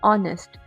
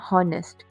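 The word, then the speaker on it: honest: We pronounce this word as ऑनेस्ट नॉट हॉनेस्ट।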